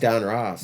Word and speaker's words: Donruss: But if you say it fast, Don Ross. Donruss.